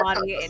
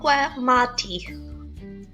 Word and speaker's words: Giamatti: No, Paul Oh, no, that's Giamatti and Tove and what is it?